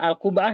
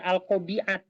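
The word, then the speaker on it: القبعة: ini aja enggak apa-apa alqubah Ya ini bacanya bukan alqobiat ya bacanya alqu alqubah alqubah Ya alqubah nah misalnya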